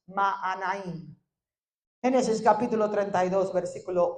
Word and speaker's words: Mahanaim: Lo estaba pronunciando en inglés. Es Mahanaim.